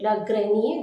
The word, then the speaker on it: grenier: R is completely omitted. Le grenier.